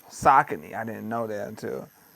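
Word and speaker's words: Saucony: I like uh Sakin, which I used to call Sakonei, but it's but it's uh pronounced Sakin.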